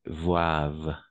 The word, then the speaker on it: boivent: comme je vous disais on le prononce jamais ent à la fin donc on va dire mange et boivent d'accord boivent les Français